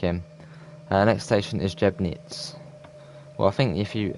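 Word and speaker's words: Jeßnitz: uh next station is jeb knits well i think if you i think in germany you pronounce the that funny b as an an s i think so it'll be jessnitz i think that uh yeah safer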